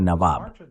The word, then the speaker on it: Nawab: En árabe se pronuncia Nawab. In Arabic pronounced Nawab. Mira, esa división sectaria la ha fabricado el imperio y sus aliados en la región.